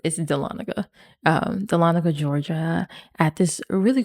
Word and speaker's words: Dahlonega: We kept saying Dahlonega, but I think Dahlonega. I think it's Dahlonega. You got to say it right.